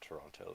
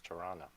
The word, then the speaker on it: Toronto: Like, in Canada, Toronto is not Toronto, it's Tirana.